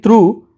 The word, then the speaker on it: through: So when you are saying through, G is silent here.